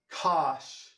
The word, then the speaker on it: cosh: can say cinch and kosh rhymes with gosh and then tana rhymes